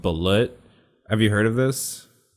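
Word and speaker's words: balut: the what we have in the philippines called bullet have you heard of this bullet it's so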